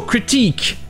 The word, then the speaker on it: critique: Et comme le mot critique, avec QE, ça vient directement du français, eh bien on utilise le son du I en français. Mais ça, seulement pour la deuxième voyelle. La première voyelle a toujours le son court I non accentué qu'il y a en anglais. Critique.